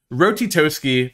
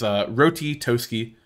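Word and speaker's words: Ratatoskr: Rotitoski, that is how you pronounce that, is Rotitoski, of course.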